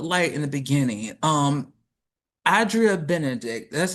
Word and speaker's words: Adria: And so I have it as Adria in my head with a long a at the beginning.